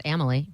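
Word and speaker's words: Amalie: Amily in actually the article starts with Well, that ends the debate on how to pronounce Amily. It rhymes with family.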